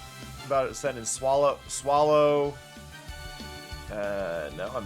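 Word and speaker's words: Swalot: That feels like its name is swallow to me. I get why people would say would say swallot and I don't disagree with it, but to me that's swallow. A silent T works perfectly there.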